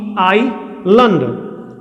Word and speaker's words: island: Island spelling will be different and pronunciation will also be different. So my dear friend, this will be the phonetic transcription. Island.